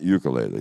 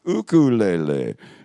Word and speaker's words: ukulele: bring your ook yeah it's not ukulele that's a mispronunciation it's ukulele and so careful when the